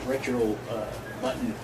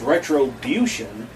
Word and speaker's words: Retrobution: It was called, we were calling it Retro Button, but it's Retrobution.